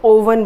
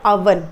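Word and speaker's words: oven: कुछ लोग इसको ओवन बोलते हैं, which is not correct children. ये होता है अवन, इसका प्रोनाउंसिएशन है अवन, ठीक है।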